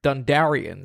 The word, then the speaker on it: Dondarrion: Okay, the Lightbringer from Game of Thrones, Beric Dondarrion. How do you say his name? Is that right? I feel like Dondarrion. You got it right. Dondarrion.